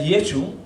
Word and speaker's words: Yeshu: Realmente la palabra correcta de Jesús en ese hebreo galileo sería Yeshu, porque los galileos lo pronunciaban la Ain, que es Yeshua. O sea, realmente si usted habla de Jerusalén sería Yeshua, pero en Galilea sería Yeshu.